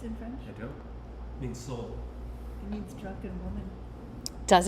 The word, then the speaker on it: Soule: I say soul, but it could be soleil. It could be that.